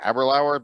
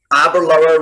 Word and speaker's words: Aberlour: year that you produce aberlou or 12. uh and i might pronounce that correctly aberlower because a few people corrected me privately here before aberlor rhymes with happy hour abroad happy hour brilliant